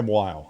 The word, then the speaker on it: Weil: while um and yeah Weil I believe is how you pronounce it I actually I actually looked it up and listened to a couple times split the order and